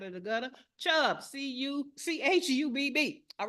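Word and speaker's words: Chubb: you say it uh C a AIG and chub that's c h u BB so not the chub you're thinking of get your mind out of the gutter chub CU c h u BB all right now the third category commercial property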